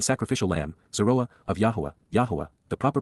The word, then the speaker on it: Yahowah: Soroa of Yahwa Yahwa the proper pronunciation of the name of Eloha God as